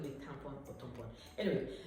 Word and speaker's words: tampon: call it tampon or tampon. Anyway, this particular word I'm talking about is pronounced tampon in French, and it means a stamp.